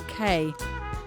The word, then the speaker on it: Cay: Our first stop, the beautiful waters of Green Key, or Cay. Both pronunciations are correct, apparently.